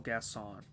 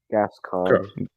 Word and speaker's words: Gascon: pronounces coruscant, but he pronounces Gascon as Gasson.